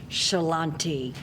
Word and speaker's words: Ciarlante: Help me welcome our one and only Shalante. God bless you. Did I pronounce it correctly?